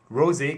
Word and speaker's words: Rosé: Rosé comes from the French. It means dew. You're supposed to pronounce it like the wine.